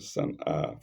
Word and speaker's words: Sana'a: Sana'a is spelled capital S-A-N apostrophe and A lengthened Sana'a, full stop.